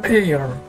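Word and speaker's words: heir: ini, dari kata daftar ini, kata-kata ini tidak diucapkan. Kita lihat, an air, an hour, an honor, sebuah kehormatan, 1 jam, dan seorang ahli waris.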